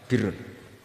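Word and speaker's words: بر: Ya kalau di isim fa'ilnya umumnya guru-guru kita baca barin, tapi untuk masdarnya untuk kebaikan bacanya apa? Birun. Nanti kamu protes, oh barun itu daratan Gus, kalau birun itu kebaikan. Aku itu macaku kamus luwes suwi, bocah kok sembrono.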